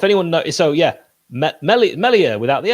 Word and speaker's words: Meslier: uh nick how do you pronounce the goalkeeper's name meslier it's definitely not meslier go on then i think it's melia no one's ever said it that way let's put it that